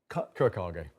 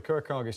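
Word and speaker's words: Kurokage: Kurakage. Think of it in Japanese, how they pronounce it.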